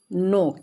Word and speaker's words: know: यहाँ पे हम एक चीज़ देखेंगे कि के लिखा हुआ है लेकिन हम लोग उच्चारण में उसका के नहीं बोलते हैं, यहाँ पे के साइलेंट है, NOW KNOW नो, तो